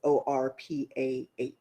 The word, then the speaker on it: Orpah: So it's Orpah is her actual name.